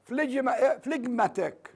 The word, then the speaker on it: phlegmatic: Yes, phlegm, الجاء لا تلفظ phlegm, لكن الادجكتيف تلفظ phlegmatic. The ga here is pronounced, but it is dropped here.